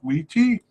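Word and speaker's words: Witi: We also have Wheaty, and that's spelled W-I-T-I. I paid attention to his pronunciation during the Cup, though, and it seemed to be Wheaty.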